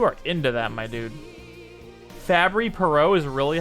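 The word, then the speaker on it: Fabry-Perot: variant dang you are into that my dude fabry perot is really how you pronounce it i'm proud of myself i'm proud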